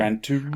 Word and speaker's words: Gran Turismo: Gran Turismo.